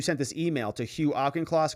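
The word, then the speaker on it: Auchincloss: this email to Hugh auchenclaws correct that's how you say his name right alken cloth he says yeah you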